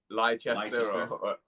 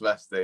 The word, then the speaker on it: Leicester: so a lot of people call it like lychee yeah yeah that's what i wanted it just pronounced leicester yeah so yeah i live with my mum